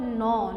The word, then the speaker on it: gnaw: Gnaw. Gnaw means what children? Here G is silent, okay.